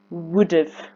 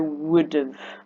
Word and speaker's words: would have: We're quite lazy in how we pronounce have, so we pronounce it more of, would have.